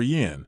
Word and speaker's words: Yì: At that time, Emperor Mu of Jin had already passed away, and the reigning emperor was Emperor Fei of Jin, Sima Yi, pronounced Yi.